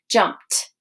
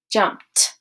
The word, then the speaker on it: jumped: a soft air consonant it's gonna sound ed's gonna sound more like a t sound at the end so it's jumped jumped asked asked some other